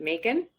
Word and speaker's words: Makin: and I've been so I've been mispronouncing it it's making Wellness and what about your last name is it Megan okay thank you so glada cleared that up and I apologize for mispronouncing it before that makes I like that so much better making wellness it's like you're making Wellness so cute I love that